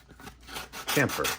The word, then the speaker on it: chamfer: Chamfer. I think it's a chamfer. There's an H in there. I don't think it's silent.